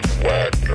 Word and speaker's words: Wagner: Wagner would only use the 5 chord It's pronounced Wagner.